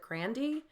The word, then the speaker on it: Grande: be reacting to ariana grande ease because I know that I want to say Grande but I know that she's pronounced it grandiy like on a radio show and I keep saying